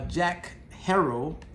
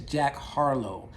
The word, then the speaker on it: Jack Harlow: this guy named uh jack harold hold up i think i mispronounced his name let me go ahead and take a look at my notes everybody let's make sure i get this right so his name is jack harlow he is a i